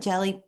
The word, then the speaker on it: Gelli: They call it jelly plate printing and it's spelled GELLI.